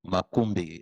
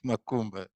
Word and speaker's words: Makumbi: By the way, it's Makumbi. I think it's difficult to pronounce. We have Makumba in West Not Makumba.